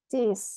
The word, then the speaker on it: Cis: ya jadi cara bacanya kalau kres itu titik-titik ditambah is contoh C kres dibaca cis cis foto gitu terus kalau